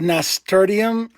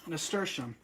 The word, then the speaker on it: nasturtium: Someone said nasturtium is a fun word. I think I pronounced it. Nasturtium.